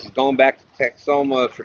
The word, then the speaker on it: Texoma: Texoma, yes, thank you. I always want to add extra syllables in that, Kevin. Texahoma or something.